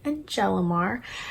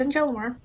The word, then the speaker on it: Nayelly: So if you didn't know how to say my name, well, now you know. It's Nayelly.